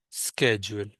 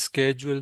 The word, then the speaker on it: schedule: Some people call it as schedule, some people call it as schedule. Both pronunciations are correct. Whatever you like, do not hesitate anywhere in any meeting. Schedule is British, schedule is American.